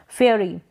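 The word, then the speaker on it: fairy: करते हैं, ई का, इसमें ई का उच्चारण देते हैं, छोटी ई का उच्चारण, छोटी ई के रूप में इसको प्रोनाउंस करते हैं, फेयरी, फेयरी, इस तरीके से, और ए करके AI को ए प्रोनाउंस कर रहे हैं।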